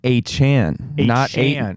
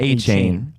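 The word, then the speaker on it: Achane: it I found it it is Devon a Chan not a chain a Chan okay Chan a Chan gotta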